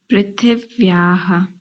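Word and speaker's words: पृथिव्याम्: देखो क्या है प्रीथि प्रीथि व्या प्रीथि व्या उच्चारण कीजिए इसका पृथिव्यां बहुत बढ़िया अब ठीक है और आगे चलो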